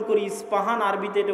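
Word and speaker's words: اصفهان: আমরা প উচ্চারণ করি ইস্পাহান আরবিতে এটা উচ্চারণ হয় না আরবিতে হয় আল আসবাহানি বা উচ্চারণ হয় ইসবাহান বা আসবাহানি সেখান থেকে 70 হাজার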